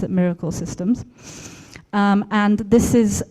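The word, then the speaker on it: MRKL: other one is called MRK else and you pronounce it Miracle systems um and this is if you are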